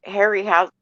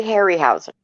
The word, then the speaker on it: Harryhausen: were in space oh i know if uh harry house okay i always get his name wrong ray harryhausen yeah was a master and those are still